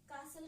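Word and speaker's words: castle: यहां तक क्लियर है कासल क्या है किला होता है ये भी क्या है एक फ्लो मिलती है टी साइलेंट यहां पे होने से तो मेरे ख्याल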